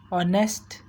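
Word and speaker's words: honest: Note, we यूज़ an before our और ऑनेस्ट because H in this words is silent.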